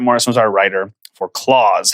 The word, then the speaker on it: Klaus: If it's spelled with a K, it's pronounced Klaus as the name.